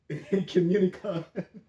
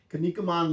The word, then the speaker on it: Kinnikuman: This is Ultimate Muscle, the Kinnikunan Legacy. I always mispronounce that. Kinnikuman Legacy.